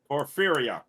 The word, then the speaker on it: Porphyria: how to pronounce it poor fear e ah porphyria porphyria yes porphyria there you go